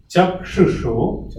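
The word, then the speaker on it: cakṣuṣo: Chakshusho Vishayaha. So all these S are capital SH.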